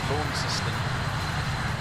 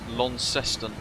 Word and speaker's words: Launceston: Honestly, some of the pronunciations of these places are so difficult, they don't even make sense. Lawn system.